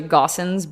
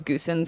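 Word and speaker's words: Goossens: in his last name's it's actually gossin but for a long time we thought it was goosens because that's how it's spelled so therefore we got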